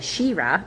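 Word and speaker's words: Sheerah: Almost like Shira. I like it. I'm going to say it like that way. Shira. That's how that reminds me. Like as if you're like really enthusiastic and you're holding on to the middle vowel.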